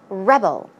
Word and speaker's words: rebel: So, rebel and rebel. Verb form once again, that is to rebel, as I said. The stress goes on the second syllable.